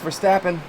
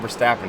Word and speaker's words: Verstappen: I was like, well, it's spelled with an A. He's like, yeah, but he's Dutch, man. Don't just read that shit like your name is Steve.